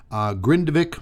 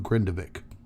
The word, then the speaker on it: Grindavik: Now, as I mentioned, Grindavik, I'm pretty sure that's how you pronounce it.